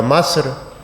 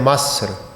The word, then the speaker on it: مصر: ان ملک کو بھی مصر کے بجائے مصر، یعنی زیر کی بجائے جہاں زیر ہونی چاہیے اس کو زبر پڑھ رہا تھا۔ لہذا اس لیے میں